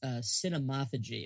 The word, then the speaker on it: cinemaphagy: But it's I always pronounce it with the I don't know if this is a softer or a harder A, but it's cinemophagy is always what I call cinemophagy.